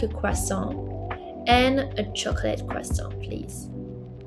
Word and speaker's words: chocolat: Okay, chocolate. This one is the same word, but pronunciation is different. Du chocolat.